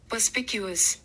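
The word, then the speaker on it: perspicuous: इसकी देखो प्रोनाउंसिएशन आप सुन लो एक बार। पस्पीक्यूस।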